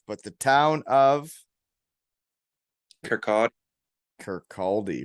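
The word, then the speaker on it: Kirkcaldy: the l is actually a double like they pronounce it with it like as a w so it's kirkati okay well you dominated that spot so after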